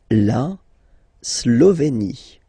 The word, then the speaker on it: Slovénie: La Slovénie. Remember, you get this E accent aigu here, it's E. Slovénie. Final E, as usual, not pronounced. La Slovénie.